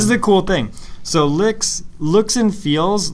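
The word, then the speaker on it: LyX: So, I use LIX, which is, it sounds dirtier than it is, but...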